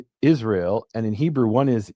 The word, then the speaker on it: Israel: Well, and it's weird that we pronounce it, Israel Instead of Yisrael, right? or Jisrael, because if Yeah. we're gonna take the y and make it a j.